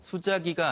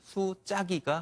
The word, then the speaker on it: 수자기: 이건 왜 그러냐면 이 글자 자자에는 말의 앞머리, 첫머리에 나오지 않는 경우에는 모두 자가 아닌 짜, 된 소리로 발음하는 법칙이 있기 때문입니다. 그래서 그래요? 수자기가 아닌 수짜기가 맞겠습니다.